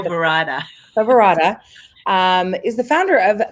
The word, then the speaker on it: Toverada: Toverada.